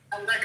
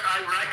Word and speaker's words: Iraq: Iraq is not Iraq, it's Iraq.